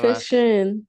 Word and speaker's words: coefficient: Coefficient.